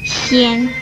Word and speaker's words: 纖: 纤这个字的国语注音是纤，一声纤，吸烟纤，一声纤。